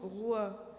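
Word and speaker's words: רוח: Le vent, un même mot dans la Bible que l'on prononce roi, désigne à la fois le vent, le souffle de l'humain et l'esprit.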